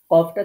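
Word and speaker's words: ق: কফটা ছিল জিহ্বার গোড়ায় আর কাফটা হচ্ছে গোড়া থেকে একটু আগে বাড়িয়ে। তাহলে এই যে এই জায়গাটা আপনারা দেখতে পাচ্ছেন, এখানে গোড়া ছিল, এই যে ছোট্ট পয়েন্টটা, এখানে আমরা কফ উচ্চারণ করেছি। আর এখন সেখান থেকে একটু বাড়িয়ে এই জায়গাটা থেকে আমরা উচ্চারণ করছি কাফ।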